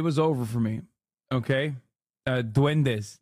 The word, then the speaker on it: duendes: Duendes, not duendas.